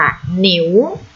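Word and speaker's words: 牛: ผม ชื่อ คำ นี้ ออก เสียง ตาม กับ เสือ ค่ะ หนิว หนิว หนิว แปล ว่า วัว หรือ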